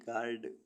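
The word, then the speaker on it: guard: सिने सिने मीस छीनना ऐसे वर्ड्स जिनमें यू साइलेंट रहता है जी यू ए आर डी गार्ड गाइड मीस रक्षक जी यू आर ए एन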